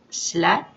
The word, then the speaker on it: Slat: Mais actuellement, de gigantesques travaux de nettoyage ont commencé au Japon, grâce entre autres à un jeune qui s'appelle Boyan Slat, ça s'écrit S-L-A-T, et son opération Ocean Clean Up, Océan Clean Up, que vous trouverez sur Internet.